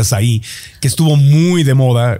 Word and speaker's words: açaí: Oye, el açaí que se puso, se escribe A-C-A-I, pero es de Brasil, entonces se pronuncia açaí, que estuvo muy de moda.